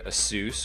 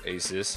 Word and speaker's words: Asus: and still manufactured by assus or Asus however you like to pronounce it uh the new Nexus